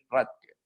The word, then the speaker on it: Rathke: Y específicamente se denomina la bolsa de Rathke. Así debería estar pronunciado correctamente.